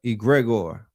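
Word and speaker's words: egregore: Let's get into this word right here, egregor.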